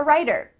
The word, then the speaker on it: writer: I'm a writer. Again, we have that T in the middle of the word changing to a D.